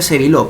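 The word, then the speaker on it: Sébileau: fosita supraretropleural de sevilo se escribe c leau se pero se pronuncia cilo porque es francés ya fosit supraretropleural de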